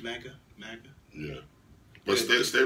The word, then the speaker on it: MAGA: MAGA?